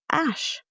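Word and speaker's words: Æ: Um, I will tell you that the ae Elon Musk kid is pronounced ash.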